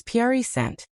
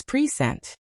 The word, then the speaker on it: present: For example, the word present as a noun is purent but as a verb it's present.